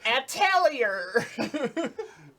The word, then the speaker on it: Atelier: Atelier is the archaic pronunciation. Atelier. Yeah, now we say Atelier. Yeah. I'm just kidding. I think it is Atelier.